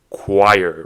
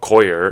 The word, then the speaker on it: choir: r choir right because it's not Cher it's not like that or it's not choer it's not choer it's choir for whatever reason and see the CH here is not pronounced as CH like as I was saying before in church but it's ch is like C so make it make